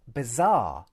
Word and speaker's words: bizarre: As you can hear, the word bizarre has two syllables with a long R sound in the second syllable.